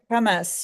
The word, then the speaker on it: Hamas: And sometimes they say Hamas, you know, which is the way the Israelis pronounce it.